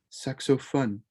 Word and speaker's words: saxophone: lu saxophone le saxophone remember with that french oh it's not phone it's fun suck so fun the saxophone love yolo